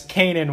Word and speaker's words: Kanan: That's Kanan with an N. Sorry, guys. No D. No D.